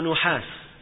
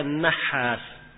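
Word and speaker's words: an-Nahhas: seluruh tobatnya hanya ada an-nahas ya bukan Ibnu nuhas salah tapi dibaca nahas ya Dan ini dobetnya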